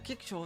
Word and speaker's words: kickshaw: That's just how you pronounce it. The CK sound is almost entirely silent. A kickshaw is what the Europeans call an insignificant children's toy or trinket.